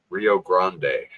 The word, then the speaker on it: Rio Grande: The Rio Grande. Am I saying it right? Grande. Rio Grande. Grande. Yeah. Like Ariana Grande.